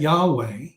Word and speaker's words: Yahweh: scriptures you see that Yahweh how we pronounce y-h-v-h or y-h-wh okay we pronounce that Yahweh but that Jehovah is